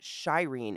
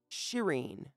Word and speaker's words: Shireen: It's not pronounced Shireen. It's actually Shireen, as if to say shit.